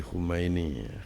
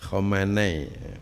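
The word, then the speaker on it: Khamenei: Hayatullah Ali Khumaini Khomanai bukan Khumaini.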